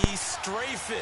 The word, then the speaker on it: Strafen: It was held in mid-December, and your winner, I.B. Straffen, or is it I.B. Strafen? You've got the pronunciation guide. I.B. Strafen. Strafen. My bad, Mr. Strafen.